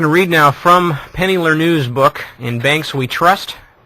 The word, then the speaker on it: Lerneux: I'm going to read now from Penny Lernew's book, In Banks We Trust.